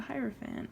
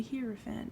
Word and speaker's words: Hierophant: And the card for that, oh, imagine that, is the Hierophant, or the Hierophant, depending on how you like to pronounce it.